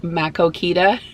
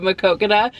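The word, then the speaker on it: Maquoketa: from out of town and they would like pronounce the names of towns, they would say them wrong, like Makokita instead of Makokita, or Dubuque instead of Dubuque.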